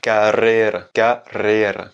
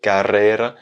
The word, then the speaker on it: carrera: parce qu'on va plus accentuer un double R. Il va être un peu plus long, un peu plus roulé que le R simple qui vient juste après. Donc, carrera.